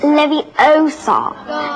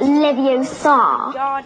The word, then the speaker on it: Leviosa: someone's eye out besides you're saying it wrong it's Levi OA not levos you do it then